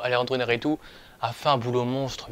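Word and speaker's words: Iñárritu: c'est un monstre visuel alandro Narou je crois qu'il s'appelle comme ça qui se prononce comme ça plutôt alandroaritou a fait un boulot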